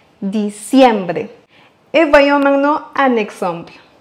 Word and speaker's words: diciembre: Et pour bien le prononcer comme un locuteur natif, n'oubliez pas d'accentuer sur le deuxième I, diciembre.